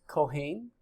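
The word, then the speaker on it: כהן: The word priest is pronounced kohen, priest, kohen, the plural kohanim.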